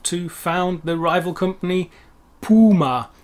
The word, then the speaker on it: Puma: found the rival company puma not puma as we say in english puma it's the same animal but it's a different pronunciation in german then of course we